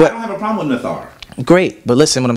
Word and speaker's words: Neter: So as I said earlier, I said we as Nuwaubians would not pronounce the word netter. We would pronounce it nathar. And we would pronounce it nathar based on our translation.